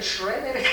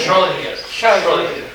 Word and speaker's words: Schrödinger: ¿Quién sabe pronunciar eso? ¿Schroeder? ¿Cómo se pronuncia? Schrödinger.